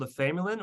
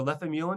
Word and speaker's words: lefamulin: There's another antibiotic called lefamulin or lefamulin, depending upon how you pronounce it.